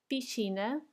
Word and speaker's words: piscina: Piscina, piscina. Do you see the S and C together? They become sh. Sh. Piscina. And then estádio.